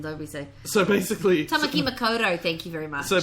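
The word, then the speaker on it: Tāmaki Makaurau: Tamaki Makoto, thank you very much.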